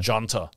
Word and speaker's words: Junta: And it's spelled with a J. It's actually Junta. Junta. I hear a lot of Australians say, oh, you know, what were you people doing during the Junta?